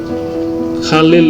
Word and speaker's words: Khalil: nah ini juga menarik Khalil itu sebenarnya ucapan dalam bahasa Arab yang benar namun kemudian dalam pengucapan bahasa Latin atau bahasa Inggris ke berubah menjadi kalium nah kemudian berubah namanya menjadi